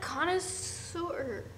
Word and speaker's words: connoisseur: I'm a donut connoisseur.